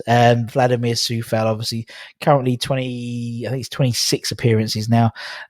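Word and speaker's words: Coufal: Sometimes but because of it's Vladimir Sufal. Obviously it's spelled with a C, not an S. Vladimir Sufal, obviously currently 26 appearances now.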